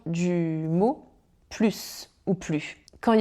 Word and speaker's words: plus: Dans le premier je dis quand il y a plus d'alcool. Donc là on parle d'une quantité supérieure. Ok, plus d'alcool sur le sol que dans les verres. En revanche après quand il y a plus de musique, je le prononce plus parce que ici, normalement, ce